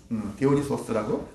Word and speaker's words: 디오니소스: 디오니소스라고? 소스가 맞나요? 네, 디오니소스.